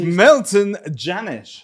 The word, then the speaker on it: Milton Jannusch: This is Milton Jannusch, right? I pronounced that correctly.